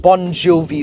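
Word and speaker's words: Bongiovi: Now, this car offers something called Bon Jovi sound. I didn't mispronounce that.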